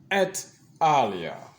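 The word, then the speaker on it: et al.: e l in uh APA research it is pronounced as at eara at eara thank you teaching assistant that was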